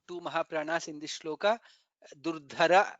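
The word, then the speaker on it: दुर्धरः: Durdhara, dha is Mahaprana, atha parajitah, tha is Mahaprana.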